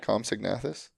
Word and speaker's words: Compsognathus: Compsognathus.